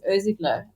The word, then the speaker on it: Irsigler: photographer with the name that no one can pronounce that let's just go into that i have a terrible surname my surname is ozigla and um what happens is um it's kind of like ozeglo and then my second name is so